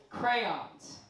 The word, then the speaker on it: crayon: All right, so crayons, written in pen, irony. Crayons, I pronounce it crayon. There's 2 syllables.